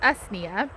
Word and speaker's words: usnea: So if you don't know or have never heard of old man's beard, it is, I believe it's pronounced usnea, and it grows on trees symbiotically, and then I think other bushes and other things.